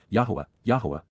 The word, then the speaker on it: Yahowah: and rever Y appreciate the astonishing awesomeness of yah yahwah the proper pronunciation of the name of eloah God as